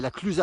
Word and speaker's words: La Clusaz: l'avoine une commune qui s'appelle la diète ça s'écrit l'âge états avaient la clusaz elle aurait plusieurs des accusés en prononcent pas